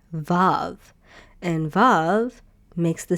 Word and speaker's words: ו: So, in ancient Hebrew, uh, vav probably was called wow instead.